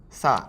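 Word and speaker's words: さ: Sa. Sa looks like a slightly weird, curvy sign. Now, the pronunciation of sign, at least the sa part of sign, is similar to sa, even though it's spelled with si in English.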